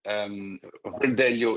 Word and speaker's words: Verdelho: Verdelho in Portuguese, if you want to say it correctly.